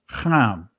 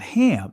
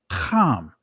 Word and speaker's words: Ham: the prefix when actually the actual pronunciation of noah's son is not ham it's kam right i'll say it